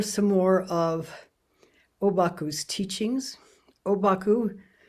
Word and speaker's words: Obaku: Obaku is his name in Chinese, and the Japanese pronunciation of those very same Chinese characters, that's his name in Japanese.